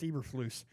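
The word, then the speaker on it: Eberflus: Eb Yeah, it's Eberloose.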